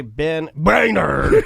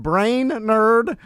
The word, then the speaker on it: Brainard: how are you guys why did you say ben brainerd why'd you say it like that right it couldn't help the bullying how do you pronounce your name and then uh he said brain nerd and then i almost